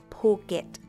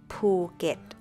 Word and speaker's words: Phuket: have heard from my friends and clients is poet Just Think A poop and you get It Right is Simply pronounced poet ภูต the next one is Also quite Popular